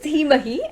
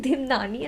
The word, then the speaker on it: Dhimahi: So my name is Dhimahi and he is pronouncing it Dhimnani and I was like, bro, what's that?